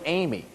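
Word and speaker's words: Eighmey: as our oregon oregon legislative session starts George Amy and his last name is spelled e i GH m ey George amy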